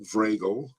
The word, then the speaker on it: Vragel: on the screen Vago rhymes with Bagel by the way um